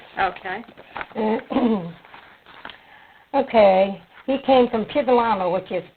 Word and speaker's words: Piedolana: He came from Piedolama, which is Piedolama. Piedolama. Ascoli-Piceno, Italy. And how do you spell that?